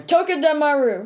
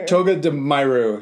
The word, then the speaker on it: Togedemaru: Togedemaru. Yeah. Togedemaru.